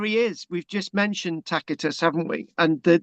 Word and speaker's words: Tacitus: is we've just mentioned Tacitus haven't we and the the C is pronounced K tacitus so this this again